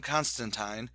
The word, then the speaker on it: Constantine: John Constantine, yes, it rhymes with turpentine, is someone who has